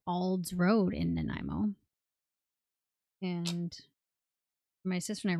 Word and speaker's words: Nanaimo: Nanaimo, like Nanaimo Bar. That's where they're from, actually, on it. It's AI, Nanaimo. The nine sound of it.